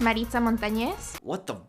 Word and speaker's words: Maritza Montañez: If you want to say my name correctly, it's Maritza Montañez. What? You can just say Maritza Montañez. And that's the anglicized, easy version that you should be able to say.